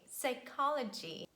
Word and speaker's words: psychology: say him autumn column letter p is always silent at the beginning of words in such combinations p s p t and p n so it's not pronounced and we say psychology psychic pneumonia pterodactyl another